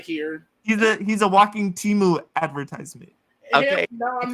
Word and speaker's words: Temu: Wait, apparently it's pronounced Temu. It's Temu.